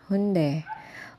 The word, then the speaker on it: Hyundai: is Mall talaga siya okay so hunde soul sabi ng mga Korean friends ko Yun daw yung pronunciation hunde Pero anyway ay si